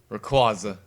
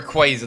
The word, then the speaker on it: Rayquaza: Rayquaza or Rayquaza depending how you say it. Seriously, that's one of the Pokemon that they that they always change the pronunciation of.